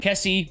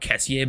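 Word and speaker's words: Kessié: How is his name not Kessier, by the way? People always pronounce his name Kessie, but isn't that E literally mean it's Kessier?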